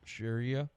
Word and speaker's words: Sharia: how they don't want Shera law is that how you say it Shara sh Sharia Sharia Sharia La we don't want Sharia